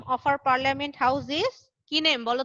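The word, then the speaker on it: Kahn: গিয়ে আবার শাহরুখ খান আর আমির খানের মতো খান লিখে দিও না, ঠিক আছে? বুঝতে পেরেছো? এখানে কিন্তু খান না, কান, উচ্চারণটা ma'am. একটু আলাদা।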